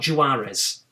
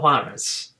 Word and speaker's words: Juarez: Call of Juarez not jawar is Call of Juarez I've still probably butchered that but I'm oh yes